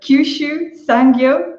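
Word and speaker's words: Kyushu Sangyo: you may need to help me with the pronunciation of this one too so at Kyushu sang-gyu University is that right very good perfect and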